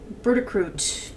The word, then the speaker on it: burdock root: Bertacroot. That would be burdock root, but it's pronounced Bertacroot.